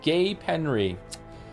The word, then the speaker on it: Gapenry: Gave them Loretic Gold, pronounced Gay Penry.